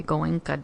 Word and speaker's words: Goenka: So, and I won't say it exactly the way Goenka did. I believe that's how you pronounce his name.